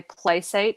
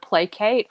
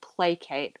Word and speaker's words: placate: a pet hate of mine when people say place 8 instead of placate I know that Placid which is like you